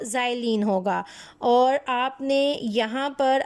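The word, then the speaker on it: xylene: उसको हम कहते हैं ज़ाइलीन। दिस इज़ नॉट, ये एक्स है लेकिन इसको जब प्रोनाउंसिएशन होती है तो एक्स को जी कहा जाता है और ये आपके पास बन जाता है ज़ाइलीन।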